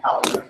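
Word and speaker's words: Palagar: Polygar. Polygar. How do you spell that? P-A-L-A-G-A-R. Pretty much the way it's expected.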